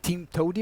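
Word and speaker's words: TMTOWTDI: Actually, it's pronounced like Team Toady or something like this, but there's always more than one way to do it.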